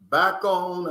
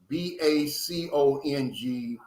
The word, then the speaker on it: Bacong: You got Bacon. I think I'm pronouncing that right. It's Bacong.